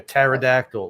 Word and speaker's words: pterodactyl: It's like one of those funny things about the English language, those silent letters. Like pneumonia, pterodactyl.